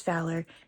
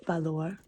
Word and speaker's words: valor: In English, it's Valor. In Spanish, it's Valor. So we're doing the Spanish.